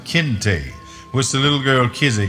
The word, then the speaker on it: Kinte: and tell them that his name was Kinte, a sharp, two-syllabic, angular sound Kinte, which the little girl Kizzy came to know was, her father said, his name.